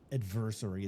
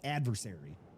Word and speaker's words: adversary: It's not adversary. That's That sounds like anniversary. It's adversary. Say it right.